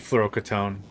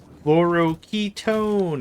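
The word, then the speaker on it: fluoroketone: Yeah, I also need fluorocetone. Fluoro ketone. I keep saying it wrong.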